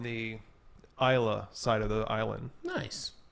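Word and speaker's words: Islay: that comes from the Iowa side of the island nice it's it looks like it's it's is l8 y but it's pronounced Isla okay and it's where the smoky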